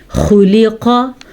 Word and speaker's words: خلق: خلق من ماء دافق, خلق, خوا کے تلفظ کا دھیان رکھنا ہے, قاف کو پر پڑھنا ہے, خوا کو پر پڑھنا ہے.